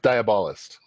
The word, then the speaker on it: Diabolist: Yeah, I'm going with Diabolist. Okay. Like Diabolist. Like diabolic?